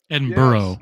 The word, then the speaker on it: Edinburgh: Edinburgh I'm in Edinburgh Edinburgh and burrow that's how they say it Edinburgh hey uh red